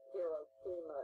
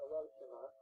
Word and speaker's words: Hiroshima: We called it Hiroshima in those days. Now they pronounce it Hiroshima.